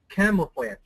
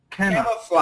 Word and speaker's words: camouflage: Camouflage. Cam cam. Camouflage. Camouflage. There you go. That's right. And this G is actually like a Z. Whoops. Not an SH. A Z.